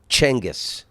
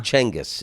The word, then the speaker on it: Genghis: And I told you I read Genghis Khan's, and it's Chenghis. Genghis Khan? Chenghis is how they pronounce it.